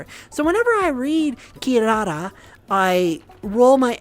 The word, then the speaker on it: Kirara: Like, for example, kilala in English for Inuyasha, it's pronounced kirara. Kirara. They don't use an L, they use an R.